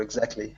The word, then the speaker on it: exactly: So you would actually pronounce all the sounds in this word, but of course you pronounce it quickly.